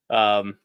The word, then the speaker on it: Metairie: or Meta Ari. I don't know. I don't know how you pronounce that down in Louisiana. It's Meredith's from Ralph. No, it's not from Ralph. Metairie.